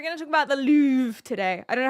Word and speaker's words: Louvre: And we're going to talk about the Louvre today. I don't know how to pronounce it, really. Louvre.